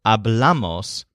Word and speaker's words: hablamos: The rest of the words simply follow the normal patterns, although notice that the first person plural, hablamos, has the stress on the second syllable, bla, instead of the first syllable, a.